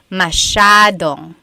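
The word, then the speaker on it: masyadong: So the s ya is a sha sound. Mashong.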